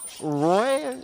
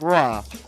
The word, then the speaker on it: Roy: the curse of patrick raw one of the greatest roy it's real it's it looks like roy but it's it he's french so it's like raw so patrick is that